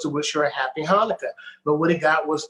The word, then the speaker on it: Hanukkah: it's you know it's the way jewish people say the ch it's it's not it's ha so there's a lot of chs uh that are pronounced like huh hanukkah hanukkah and that's how